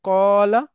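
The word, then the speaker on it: قال: মাদি থেকে ওয়াওটাকে সরায় আলিফ নিয়ে আসলাম, উচ্চারণটা হলো কলা।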